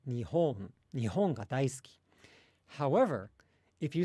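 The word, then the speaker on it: 日本: And there's like a distinct low, high, low within the word Nihon, right? Nihon ga daisuki.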